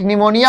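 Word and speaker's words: pneumonia: एक साइकोलॉजी होता है जो पी से स्टार्ट होता है, एक निमोनिया होता है वो भी पी से स्टार्ट होता है ना।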